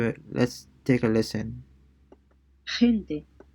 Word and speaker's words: gente: before E or I, it sounds like the H in the word hot, except that it's raspier. So let's listen into it. Let's take a listen. gente, gente, Gente, gente, it means people.